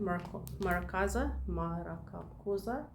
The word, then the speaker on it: Murakoze: to pronounce it wrong, Murakoze. It's not Murakoze, because this is how we would have pronounced it with a South African way of reading. This is actually French.